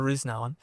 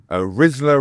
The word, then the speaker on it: Risner: I'm curious how do they normally pronounce your name? Rizler. Risma. Anything but Rizler.